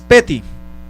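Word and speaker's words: פֶּתִי: Esta palabra sencillo en el hebreo es peti, así tal como lo estoy pronunciando, peti.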